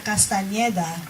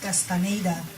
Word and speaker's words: Castañeda: Well, my full name is Castañeda, but of course here I pronounce it Castaneda for obvious reasons.